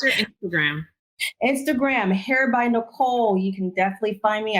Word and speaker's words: Nycole: And what a little twist that nobody like unless they really know me is Nycole is spelled with a Y. So it's NYCOLE. Doesn't make sense, but you always remember me.